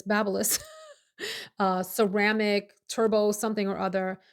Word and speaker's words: Babyliss: I would say baby bliss, but it's Babyliss.